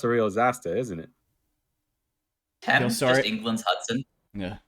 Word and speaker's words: Thames: The Thames, Dom. Is it pronounced Thames? It is yeah, actually yeah. Yeah, My bad. It's no worries. it does not look like it. It's not intuitive.